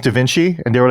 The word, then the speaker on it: Da Vinci: vinky twins those twins that that that m pronounced Da Vinci and they were like dinki you know and